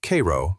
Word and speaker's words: Cairo: Down in the deep south of Georgia, near the Florida line, sits the warm little farming town of Cairo, pronounced Cairo by the locals.